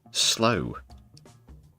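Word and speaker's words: Slough: but also Preston and slow that's pronounced slow for anyone who's not from the UK.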